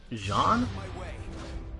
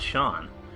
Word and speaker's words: Jaune: You mean Jean? It's not Sean.